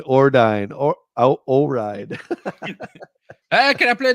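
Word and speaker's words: Ordyne: I could never pronounce this one. Yeah, that's how I would say it. Ordine. Ordine. Okay. I always called it O-Ride because I can't.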